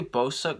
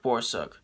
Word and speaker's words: Borsuk: four friends eric borsep did i say beau suck before it's it's eric borsuk and uh chas allen